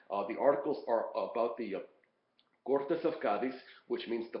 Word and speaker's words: Cortes: Cortes, of course, is the proper name, so the accent is on the second syllable. But Cortes, without the accent, means parliament, assembly, legislature, that type of thing.